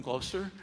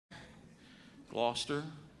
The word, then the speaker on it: Gloucester: Um, did I pronounce it wrong? Did Gloucester. My wife is British. She knows.